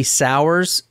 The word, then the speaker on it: Souers: looking at right now is 20-year-old Tiffany re sour and sour is spelled s o u e RS I've heard